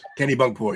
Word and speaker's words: Kennebunkport: Kennebunkport.